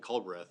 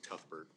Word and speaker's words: Culbreth: Apparently I pronounced his last name wrong. I've been informed by the HR, so I'll probably be getting written up for that, but Oh, yeah. it was Sergeant Culbreth, not Cuthbert.